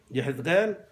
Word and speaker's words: یحزقیل: چون زیر الف نقطه ولی دانیل زیر الف نقطه نیست همینطور یحزقیل زیر الف نقطه نیست بنابراین الف اصلا تلفظ نمیشه